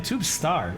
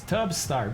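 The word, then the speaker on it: Tubstar: that what's up man tube star it's tub start what am i even saying tub star sorry i butchered your name and hello welcome in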